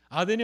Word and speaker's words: 아덴: 아덴이 어디일까요? 아덴이 여러분 잘 아시는 아테네입니다. 그리스 아테네를 우리 성경에서는 아덴이라고 발음하고 있는 것입니다.